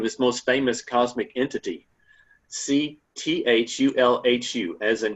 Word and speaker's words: Cthulhu: Um how do you pronounce that name? I've always gone with Cthulhu, but I've heard the harder, you know, Culu as being, you know, quote unquote also acceptable.